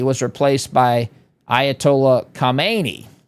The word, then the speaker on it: Khamenei: Ayatollah Kmeni was replaced by Ayatollah Kamani. If you can even hear me say the difference there. And I don't speak the the language but I mean they're they're pronounced very similarly.